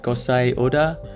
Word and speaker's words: Gosei Oda: I said ability and today we're looking at course a order I'm so ever pronouncing that wrong really impressed with this guy's